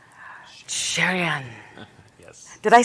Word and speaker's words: Cherian: I say your name sherion yes did I say that right yes I love your name you have to say it properly though cherion cherion right yes well Robin do